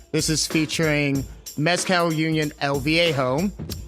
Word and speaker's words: El Viejo: How do I pronounce Viejo? that? What? Is it? Yeah. How do El I? Viejo? El Viejo.